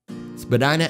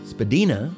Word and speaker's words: Spadina: Spadina Avenue, it's pronounced Spadina by some, Spadina by others.